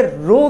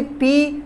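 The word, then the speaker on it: rho: एक Greek letter है, इस सिंबल को हम आर एच ओ यानी कि रो के नाम से जानते हैं। इसको कभी पी प्रोनाउंस मत करिएगा, ये मिस्टेक हो जाएगी, मतलब लोग समझेंगे शायद आपने फिजिक्स नहीं पढ़ी हुई कि आप इसको पी रीड कर रहे हैं।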